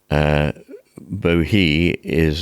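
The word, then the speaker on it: Bohea: tea and in fact in pope's time boo he and t which form a rhyme in this poem would both have been pronounced bohei and day but i'm going to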